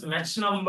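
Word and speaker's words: Mach number: Some pronounce the same as match number also. Right. Right. Some people pronounce the same thing as match number although right but more popular pronunciation here is Mac number ch but I have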